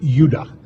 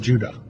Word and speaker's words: Judah: called Benjamin and Judah more properly pronounced at Judah because we didn't get the harder sound to the Jay until about two hundred years ago so this is what